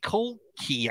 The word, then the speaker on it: Colclough: c-o-l-c-o-u-g-h but the seat the last part it looks like it's cough right it's spelled great somehow